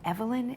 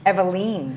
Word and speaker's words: Eveline: we have we have evelyn and barbara here eveline oh my gosh eveline that's what it is don't say it wrong i'm sorry don't say